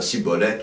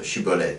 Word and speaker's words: Shibboleth: Alors les méchants, ils ne savent pas prononcer, ils prononcent, je crois, Siboleth ou Siboulette, et les gentils prononcent Shibboleth.